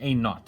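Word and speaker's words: a₀: as a side point this is usually pronounced a not as in british for zero like not or nothing i don't know but it's a naught so it's a and a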